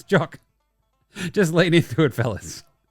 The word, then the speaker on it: Jock: It's like, it's Jock.